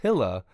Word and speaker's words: Gila: Hilla the dude says gila film is pronounced Hillah its color stable because